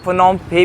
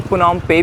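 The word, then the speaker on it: Phnom Penh: इनकी कैपिटल की बात करें, इनकी कैपिटल तो यहाँ से जिसका नाम है फनोम फे, उसको फनोम फे भी बोलते हैं, फनोम पे भी बोलते हैं।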